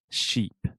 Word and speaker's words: sheep: and Jeep sheep yeah so sheep Ovilla has the sh sound sheep and then jeep has the jeep jeep ship perfect does that